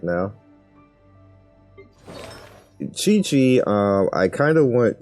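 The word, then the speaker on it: Qiqi: know whatever also um somebody told me that you suppose that the q's you're supposed to pronounce it as che i don't know if they're telling the truth or not i look it up and it kind of sounds right so it's kiching and chichi oh i was saying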